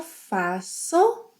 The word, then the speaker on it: faço: Eu faço with a s sound.